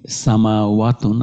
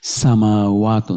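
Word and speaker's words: سماوات: দুটো মাদ আছে, মিমের উপরে একটা মাদ আছে, আর ওয়াইয়ের উপরে এখানে মাদ আছে। সামাওয়াতুন, জবরের পরে খালি আলিফ, জবরের পরে খালি আলিফ, দুটো মাদ। সামাওয়াতুন বানান লেখার সময় আমাদের একটু সাবধানে লেখা লাগবে।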